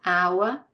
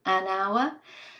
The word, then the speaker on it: hour: an umbrella, an hour, because the H is not pronounced here, it's a mute H, so hour, an hour.